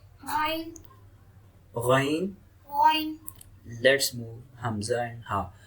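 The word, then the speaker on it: ء: Let's move Hamza and Ha. So Hamza and Ha is produced from lower throat.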